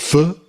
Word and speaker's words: pho: I think isn't it pronounced pho? It's pronounced pho, yeah.